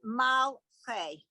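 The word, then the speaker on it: מַלְכֵי: And that second word, it's better as malche.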